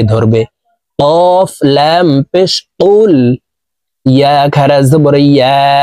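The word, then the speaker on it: يَا: ইয়া খারা জবর ইয়া। 3 আলিফ টান হবে। মদের হরফের উপরে চিকন চিহ্ন, বামে হামজা, মধ্যে মুনফাসিল 3 আলিফ টানিয়া পড়িতে হয়। তো আমরা এই ইয়াকে 3 আলিফ টানে পড়ব।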